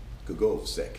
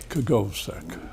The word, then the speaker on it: Kogovsek: Kogovsek. Kogovsek.